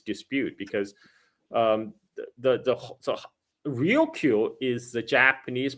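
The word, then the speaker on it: Ryukyu: Now, Okinawa itself, the Rio Island chain itself also is actually tied to this dispute because um the the Rio is the Japanese pronunciation of Luchu um which is what the island called themselves.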